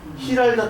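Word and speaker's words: Giralda: 세비아이 세비아 탑에서 바라 이게 히랄다 탑이라니다 이게 랄가 아니에요이 잘 읽으셔야 돼요 지랄 지는 히 발음이나 히 네덜란드나 스페인어나 똑같이 발음이니다 흐 흐르 뭐 이런게 다 지로 시작 랄라가 아니라 히랄다 자이언트가 있죠 영어로 자이언트이 지로 시작하잖아요 스페 말을 히테 히테 스은 거의 비슷해요 히랄다 히랄다 본이 정원이라고 이렇게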